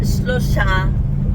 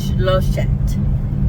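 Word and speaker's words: שלושת: So it's not shlosha, it's shloshet. The stress is on the O, and then it has an et at the end instead of an a.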